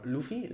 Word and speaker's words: Luffy: Luffy, or Luffy, I think, yeah, that's how his name is pronounced.